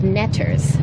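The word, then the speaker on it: netjer: um they were called ners uh which we get from the word or the consonants the glyphs for the consonants NTR which when pronounced you get ner but you also get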